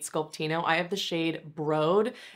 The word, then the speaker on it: Broad: I have the shade broad it's spelled b-r-o-a-d and you would think that it's broad but they named them after LA museums and so this was after the Broad Museum and Tower 28 says